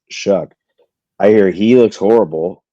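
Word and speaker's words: Shough: What is it? Shuck? Shug. I think it's pronounced Shuck.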